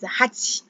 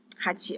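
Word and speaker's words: はち: yeah all right okay so number eight is hachi hachi okay number q a number nine is cool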